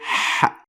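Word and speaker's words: ح: but it comes so close to the sound of ha in English. But it is less deeper in your throat. So you don't say ha, but you say ha.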